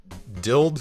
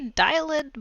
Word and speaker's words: dyld: staring into your OSX DILD. How do you pronounce that? DYLD? Yeah, dild. Well, I would say dialed, but some people say dild. I think dild sounds really awkward. I say dialed.